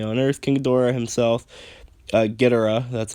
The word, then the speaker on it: Ghidorah: Titans that originate on Earth, King Ghidorah himself, Ghidorah, that's how they say it though, which is fine, but was not of our planet, so there's already a precedent established here.